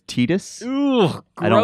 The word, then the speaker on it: Tidus: Uh, for me I grew up thinking that it was Titus Yes. X. Actually, it's Tidus.